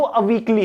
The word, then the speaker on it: Awiqli: से जाना जाता है, लेकिन इसका जो नाम है वो अवीकली है। क्या है? अवीकली। ये स्पेलिंग लिखी हुई है AWIQLI। तो कुछ लोग इसको अवीकली कह रहे हैं, कुछ लोग अभीली। हालांकि एग्जाम में जो पूछा